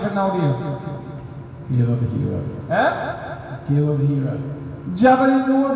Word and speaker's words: Hira: The most authentic one is that, is going to pronounce with ha kasra, Hira, not Hira, and fatha on the wrong, and alif, big alif, muttasil, big mat alif, Hira.